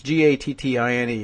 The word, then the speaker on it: Gattine: LePage sent the message Thursday morning after a television reporter appeared to suggest that Democratic Representative Drew Gatine, and that's Gattine if you know how to pronounce that, was among several people who had called the governor a racist, which Gatine later denied.